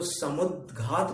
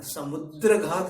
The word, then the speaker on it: समुद्घात: तो इसी प्रकार यहाँ पर भी अपने को समुद्घात बोलना है, समुद्र घात नहीं बोलना है।